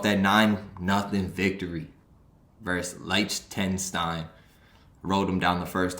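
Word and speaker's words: Liechtenstein: nine nothing victory versus light 10 stein wrote them down the first time did not see that t in the middle that that's actually hard to pronounce leicester in time chance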